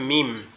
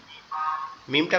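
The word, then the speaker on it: ميم: এরপরে হচ্ছে মিম। মিমটা কোথা থেকে উচ্চারণ হবে? মিমটা আমাদের দুই ঠোঁট, এখানে উপরের ঠোঁট, নিচের ঠোঁট, দুই ঠোঁটের এই যে মিডিল অংশটা একসাথে লাগবে, লেগে আওয়াজ হবে মিম, মিম, মিম, মিম, মিম।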